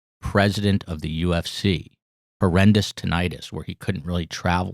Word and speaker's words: tinnitus: that it was not with an eye it's tinnitus okay you know who had a very bad